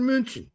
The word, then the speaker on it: München: It's not Bayern Munich, it's Bayern München. It's not Cologne, it's Köln.